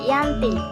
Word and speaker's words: Giyanti: perjanjian ini yakni di desa Janti di dalam pelafalan Belanda ia tersebut dengan Yanti dan secara tertulis ia terbaca Yanti tempat tersebut sekarang dikenal